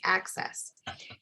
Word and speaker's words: ACSES: So in my work with measurement development on the rating tool I've led the development of, called the Assessing Classroom Social Cultural Equity Scale, pronounced ACSES.